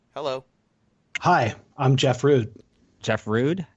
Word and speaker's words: Rud: was my great grandmother she pronounced it rude so that's a that's